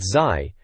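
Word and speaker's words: Zy: It kicks off with Zai, they spell it Z-Y, mind going on about Yoshi's story.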